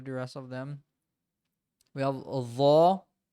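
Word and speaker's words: ح: sound of your throat it comes on your throat so huh hey who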